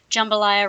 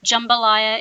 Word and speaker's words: jambalaya: Jambalaya is the pronunciation for this dish. It's not jambalaya. Please don't say that. It's not made out of jam.